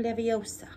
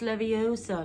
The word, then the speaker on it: Leviosa: Wingardium Leviosa. It's Leviosa, not Leviosa. Okay.